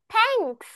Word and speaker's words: thanks: তোমরা যখন এই থা উচ্চারণ করবে তখন তোমাদের দুইটা যে তিত রয়েছে, রাইট, দাঁত, উপরের সারি এবং নিচের সারির মাঝখানে তোমাদের জিহ্বাটা লেগে যাবে এরকম ভাবে।